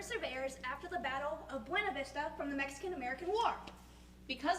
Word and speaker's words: Buena Vista: after the battle of buena vista from the mexican-american war because the surveyors were german they gave the county the german pronunciation of buena vista instead of the spanish pronunciation abuena vista oh nice